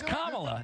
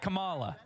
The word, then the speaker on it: Kamala: name right Camala Harris it's Kamala not Kamala oh okay it's Kamala Kamala Harris not Kamala you put the emphasis